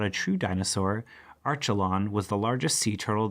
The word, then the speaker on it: Archelon: this is a turtle Archelon Archie lone that's how you say it Archie lone so it's an ancient